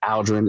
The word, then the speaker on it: Aldren: My dad had the wonderful idea to name me Aldren. It's just pronounced differently, but I get Aluldren all the time.